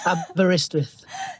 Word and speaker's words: Aberystwyth: After graduating into 2012 from, Aberystwyth. I'll help you with this. Aberystwyth.